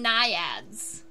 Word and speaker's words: naiad: we call the nymphs, we actually call them naiads instead of nymphs.